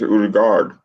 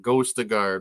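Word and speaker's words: Ødegaard: Udagor, and that's not how he says his name. It's Udagard. Yeah. And now he spells it wrong on our WhatsApp thing. Then he pronounces it wrong on Arsenal Fan Circle on his channel. It gets on my nerves because there's so many clowns that are Ghostagard, Wodagard, and Odergard.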